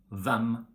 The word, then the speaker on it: hvem: For example, we say hjelpe, and in all these question words like hvem, hvor, hva, we don't pronounce the H.